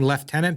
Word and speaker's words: lieutenant: saying Lord leftenant but I have trouble saying left tenant because there's no F in that word what in British English what we Americans call Lieutenant they call leftenant why I don't know